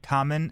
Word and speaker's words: Kamen: it's spelled it's um kam en common as in for people out there who like Japanese TV shows Kamen Rider yeah common right um so it's kind